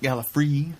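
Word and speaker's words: Gallifrey: whoever pointed out that Tom Baker pronounced it Gala free five high fives and 10,000 and 1,000 points to you never never thought of that I was just saying gal free again Gala free gal free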